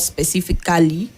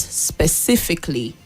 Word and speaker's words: specifically: So that word has 4 syllables and not 5. So not specifically, but specifically.